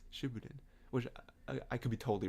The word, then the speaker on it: Shippuden: so what shipping in some people say Shippuden and I can't get over that I'm like it's not Shippuden it's sooo booted which I could be